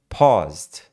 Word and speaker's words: paused: soltam muito John pa eles falam assim esticam né pa pa e sem falar o e de novo sem falar o e paus você sai do S entra no d paused however As they enter